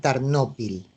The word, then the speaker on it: Tarnopil: Así es, ahora es una ciudad importante, Tarnopol, ahora en Ucrania, por lo tanto la llaman Tarnopil, pero los judíos se refieren a ella incluso como Tarnopol, con el acento en la última sílaba.